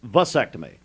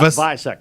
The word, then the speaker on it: vasectomy: It's vasectomy, not bisectomy. Vasectomy.